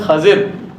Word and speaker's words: خضر: خضر علیہ السلام ہے۔ عوام الناس جن کا نام خضر بولتے ہیں، یہ آپ کا درست نام کا تلفظ ہے خضر علیہ السلام۔ ان کو اللہ تعالیٰ